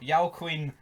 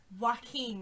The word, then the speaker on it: Joaquin: Yell Queen. Joaquin. Well, there we go. Joaquin Phoenix. My pronunciation's pish, but we have Roberto De Niro in this.